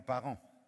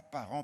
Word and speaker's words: Paran: Dis avec moi Paran. Mais pas Paran, P-A-R-E-N-T, c'est P-A.